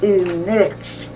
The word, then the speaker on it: Enix: his last name was, they called it Enix, but it's E-N-I-S-E. So that must be a foreign way of pronouncing it, because they always pronounce it like it's N-I-C-K.